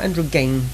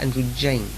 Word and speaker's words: androgyne: Still not Andrew Gang, but Andrew Jane. The soft G is definitely right. There's no question about that. It's definitely a J sound and not a G sound.